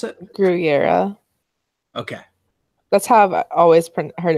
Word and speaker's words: Gurira: Danai gurira I I'm sorry how do you pronounce it your era okay let's have always heard of pronounced on